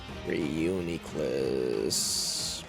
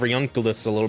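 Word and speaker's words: Reuniclus: Reunicless the name I learned how to pronounce a little bit recently be yeah that's probably say like that a little bit instead of reunul like what is that but either way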